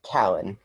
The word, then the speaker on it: Calin: I can, and my name is pronounced Callan. Callan, all right. Thanks for helping me get the accent on the right syllable.